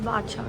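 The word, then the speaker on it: Bacha: मैं तो इसको बच्चा कॉफी प्रोनाउंस कर रही थी। बट एक दो लोकल से पता चला that no this is pronounce that's बादशाह कॉफी।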